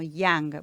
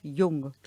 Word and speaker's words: Jung: viste que muchas veces algunas personas lo nombran como yang porque le suena norteamericano Pero no él era suizo Eh entonces su nombre se se pronuncia Carl gustav jung no sé si lo digo un perfecto alemán austríaco Bueno pero él o